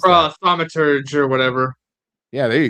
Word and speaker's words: Thaumaturge: We also have the Thaumaturg. Ooh, I don't even know how to pronounce that. Thaumaturge or whatever.